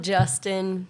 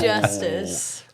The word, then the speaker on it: Justice: Yeah, they called him Justin. It's Justice.